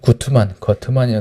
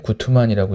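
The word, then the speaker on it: Guttmann: 이제 거트만이라고 되는데 구트만이라고 읽죠.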